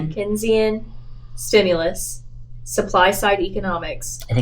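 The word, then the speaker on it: Keynesian: How do you pronounce the first word, Dr. Kenzian? Kenzian stimulus, supply side economics.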